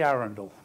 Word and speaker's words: Arundel: day hasn't it say my name is Arundel get this pronunciation that's in the town as in the